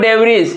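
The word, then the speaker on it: debris: इसको हम लोग डेरी पढ़ते हैं। तो ये क्या हमारा साइलेंट क्या हो गया? इसमें एस साइलेंट हो गया।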